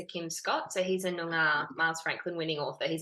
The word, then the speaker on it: Noongar: How does one pronounce it? Noongar.